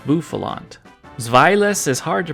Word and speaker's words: Bouffalant: And I called this Pokémon Bouffalant, which is an honest mistake because it's based on a buffalo, but nope, it's Bouffalant.